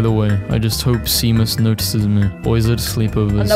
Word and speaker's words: Seamus: if your name is Seamus Sheamus no way that's pronounced chamus what it's Irish I'm done I'm done with